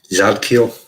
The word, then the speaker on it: Zadkiel: Zadkiel.